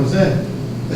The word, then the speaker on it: Mosé: Contrata a Viviane Mosé, a pronúncia é essa mesmo, Mosé, aí paga fortuna a ela aqui.